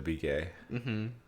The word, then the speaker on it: Begay: b gay like johnny be good but jenna be gay i think it's supposed to be pronounced baguette begay like her last name yeah